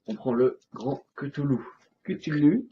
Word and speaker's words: Cthulhu: Cthulhu. Tulu. Cthulhu. Alors, Que t'es Prononcé à la japonaise, évidemment.